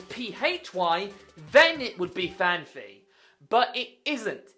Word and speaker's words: Phanpy: Phanpy. Yet, one person, a very famous Pokemon YouTuber, pronounces it Phanpy.